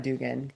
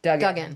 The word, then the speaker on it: Duggan: And I think obviously like the rosters that are full now, like you look at Hamilton, shout out Megan, it's not Dugan, Duggan. Duggan.